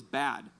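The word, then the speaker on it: בד: And so, but this word alone, what's ironic, the Hebrew pronunciation of the word alone is bad, B-A-D, bad, right?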